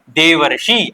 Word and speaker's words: देवर्षि: तो देवर्षि को उच्चारण करने पर आपको क्या प्राप्त होता है? देव धन ऋषि। देव धन ऋषि। ठीक है? तो यहां पर क्या बन रहा है? देवर्षि आप उच्चारण करने में यहां पर क्या पाते हैं? आपको अर की ध्वनि सुनाई देती है।